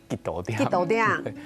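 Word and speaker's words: 一多點: 多点，然后就把标准发音应该叫做一多点，然后几多点，一多点，我讲快一点就一多点这样，对，一多点，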